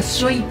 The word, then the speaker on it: Sui: điện tử cho blockchaine hay gọi dự án này là xui đúng không ạ nhưng mà cách đọc đúng là suy được Lấy cảm hứng bằng tiếng Nhật có nghĩa là nước với kỳ vọng là